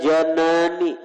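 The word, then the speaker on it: جَنان: Wal janani, janan bacanya lah hati, artinya kalau janan hati. Kalau jinan baris di bawah, jinan itu surga. Jannah, jannatani, jinan. Jadi bahasa Arabnya beda baris saja lain arti.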